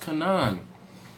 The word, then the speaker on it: Kanan: He says his name is pronounced Kanan.